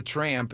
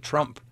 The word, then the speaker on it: Tramp: It's like a lot of people never, when I pronounce tramp, they never really hear it all the way, so they always write Trump. Yeah. I says, nah, there's an A in it, though. I mean, it's obvious. Yeah, there it's is tramp. An A, but not everybody pronounces the A the correct way.